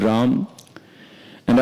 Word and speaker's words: Rama: potency of the Lord Ram. And as we know that, it is mentioned that Ram, this is two syllable, Ra and Ma.